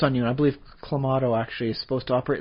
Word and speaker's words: Clamato: They actually decided to solidify a pronunciation guide on it. It's Clamato.